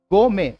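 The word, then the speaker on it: gourmet: यहां पर आपको ध्यान रखना है, this is silent, this is also silent, तो ये दो अक्षर हमारे साइलेंट रहेंगे। तो आप कैसे उच्चारण करेंगे? गो में।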